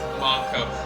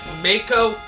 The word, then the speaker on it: Mako: It's And if it was to be pronounced as Mako, there would be an E at the end, making the A as an actual A. So to me personally, calling it Mako makes no sense.